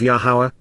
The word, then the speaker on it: Yahowah: NASA to lift up and carry away of yahuwah yahuwah the proper pronunciation of yahuwah our lower God as directed